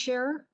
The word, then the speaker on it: Schur: And is your last name pronounced Scherer? Yes, Schur.